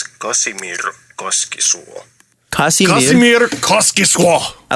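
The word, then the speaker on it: Kaskisuo: Just in case I was a bit too quick pronouncing the name in the first clip, it's Casimir Koskisuo.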